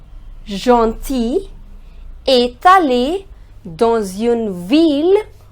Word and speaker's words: ville: However, there are certain exceptions in which the sound of ILL changes and we pronounce double L.